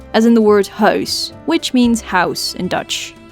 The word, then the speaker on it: huis: finally we have o as in the word house which means house in Dutch house again no